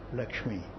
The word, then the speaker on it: Lakshmi: Means I will tell you how to write it, how to pronounce it. The name I give you is Lakshmi.